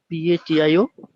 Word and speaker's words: patio: what is the pronunciation of patio?